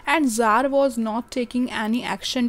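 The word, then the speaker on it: Tsar: हैं क्योंकि वहां पे जर बोला जाता था टी एस ए आर इसमें टी साइलेंट होता है तो जर भी उसके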